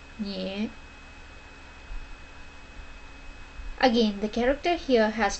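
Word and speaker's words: 女: It's pronounced as nye.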